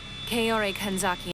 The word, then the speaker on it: Kaori Kanzaki: Kaori Kanzaki. I hate to be extremely nitpicky here, but you said your first name wrong.